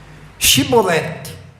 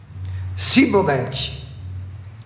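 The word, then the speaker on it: shibboleth: tribos Tá então vamos fazer o teste diga chibolete e a tribo de Efraim dizia sabe o quê sibolete ela não conseguia pronunciar o xi eh no hebraico é interessante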